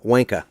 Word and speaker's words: wanker: For instance, wanker ends with an R, if you went by the way they said, it's a wanka.